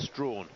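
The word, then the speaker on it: Strachan: in seven and the lineup completed with uh Strawn of Bahamas it's spelled Sten but pronounced Strawn the Bahamian in Lane eight taking a little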